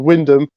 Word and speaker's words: Wymondham: I mean, I grew up in a town called Wyndham, but the way you look at it with the way it's spelt is Wymondham.